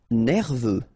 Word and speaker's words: nerveux: Nerveux. Final X not pronounced. E-U, E, V, nerveux.